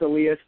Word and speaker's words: Elias: So it's pronounced Elias. Don't worry about it. Everyone gets it wrong.